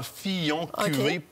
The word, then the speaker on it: Fillon: va avec château Fillon il se prononce vraiment Fillon première Bordeaux c'est le